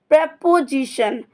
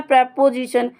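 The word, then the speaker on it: preposition: तो आपका parts of speech का सिक्स्थ वर्ड है प्रेपोजिशन। इसको हमारा सही प्रोनाउंसिएशन है प्रेपोजिशन। लोग और बच्चे पढ़ लेते हैं इसे प्रीपोजिशन। प्रीपोजिशन नहीं होता, इसका सही प्रोनाउंसिएशन होता है प्रेपोजिशन।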